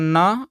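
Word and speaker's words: know: अब ध्यान दीजिए दोस्तों यहां पर जो के है य इस के को साइलेंट मानते हैं और यहां पर आपको पता है कि ओ डब्लू से केवल ओ होता है तो एन से हो गया न और न में ओ जोड़ेंगे तो नो और नो का मतलब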